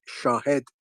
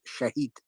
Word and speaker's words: Shahed: First of all, I need to tell you it is Shahed, not Shahid. Papa. Okay, Shahed. Thank you. Go ahead. Shahed. Yeah, Shahed. Yeah. Shahed. Exactly. Okay, That is the right pronunciation.